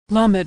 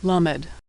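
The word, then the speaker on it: למד: Lamed is pronounced L as in lucky. Lamed.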